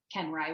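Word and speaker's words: Koenreich: Instagram it's at Kelsey kenry which is CEO k-o-e-n-r-e-i-c-h it does not sound like it is spelled I had to learn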